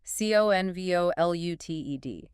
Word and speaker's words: convoluted: Convoluted. Stress. Stress on the first syllable. Yeah. Convoluted. 4 syllables.